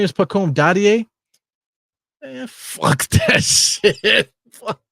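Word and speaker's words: Dadiet: It's pronounced Dadia. Dadie. That's how you say it. So his name is Pacome Dadie.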